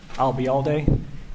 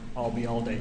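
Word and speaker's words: Ayalde: okay what was that if you uh remember the phrase I'll be here all day and drop it here I'll be all day you got it and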